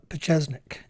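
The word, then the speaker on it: Pieczenik: p i e CZ n i k uh pesnik and that's how it was that's how it was pronounced you know on the on uh Alex's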